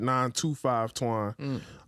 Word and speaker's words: 925 Twaun: popping is 925 twine but you pronounce it 925 twine uh y'all could look